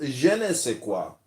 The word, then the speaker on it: je ne sais quoi: It is pronounced je ne sais quoi.